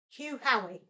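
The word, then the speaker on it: Hugh Howey: that's it hu Hoy I think I'm pronouncing his name right H hu ho or hu Hoy um I believe he wrote The Wool whoa Hugh Hoy not Hoy Hugh hoy it's Silo of the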